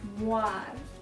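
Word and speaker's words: mwaar: And moon is spelled M-O-O-N. But in the Tongva language, it's mwar.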